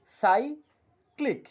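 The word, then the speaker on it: cyclic: সি ওয়াই সি এল আই সি অর্থাৎ হল সাই ক্লিক সাইক্লিক অর্থাৎ সি এর পর ওয়াই সেজন্য এখানে উচ্চারণ হল সাই থ্যাংক ইউ এভরিওয়ান আর যারা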